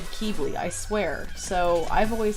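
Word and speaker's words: Quibli: Um, Kibi. They're going to yell at me for how I pronounce his name. Now, what's it supposed to be? Some people say kibi or quibi.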